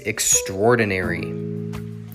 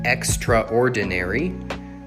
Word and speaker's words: extraordinary: only five syllables but you can also pronounce it extraordinary with six syllables okay seven and eight